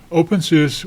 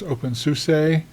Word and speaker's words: openSUSE: So, OpenSUSE was a German company. You might hear it pronounced OpenSUSE or OpenSUSE. Doesn't matter to me which way you pronounce it.